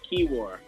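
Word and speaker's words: Kiewra: there at the corner it's pronounced keyar but uh it's keyar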